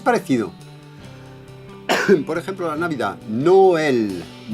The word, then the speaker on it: Noël: Por ejemplo, la Navidad, Noël, Si no pusiéramos el acento le diríamos Noel, Noel, ya que, bueno, sería un poco como un acento tónico, pero la diferencia es que es todo apoyado igual. En vez de decir Noel, Noel, digamos Noel. Citroën, Citroën.